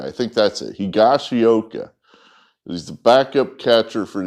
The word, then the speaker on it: Higashioka: it's the video time and I still can't pronounce it. Higashiwa, Higashioka, I think that's it. Higashioka.